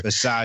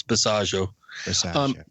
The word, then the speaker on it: Bisaggio: Bisaggio. It rhymes with Chicago. It's Bisaggio.